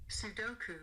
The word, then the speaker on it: Sudoku: hear how to pronounce according to UK soku soku and according to the US Sudoku Sudoku Sudoku Sudoku Sudoko